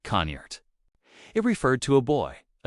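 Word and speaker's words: cniht: In old English, the word was ciette pronounced roughly like conert.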